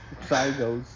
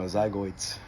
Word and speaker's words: zygote: Zygotes, they're called. No, zygoids.